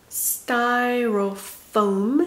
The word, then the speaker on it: Styrofoam: 자, 62강 발음 지우개. Carpet, carpet. Monitor, monitor. 여기도 약음이 있어요. Monitor, monitor. Styrofoam, styrofoam.